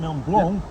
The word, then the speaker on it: Mont Blanc: This is the Mont Blanc, B-L-A-N-C, but the C is silent, Mont Blanc, Massif, so which is the mountain is the central part of it, and we're hiking around the mountain.